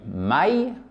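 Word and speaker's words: май: Passons maintenant à mai qui se dit mai, mai. Donc à la fin, c'est comme l'onomatopée aïe en français, j'ai mal, mai.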